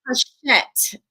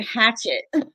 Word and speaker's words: Hachette: Book Group right, but It's it's Hachette, because oh, I thank you. used to call it Hatchet.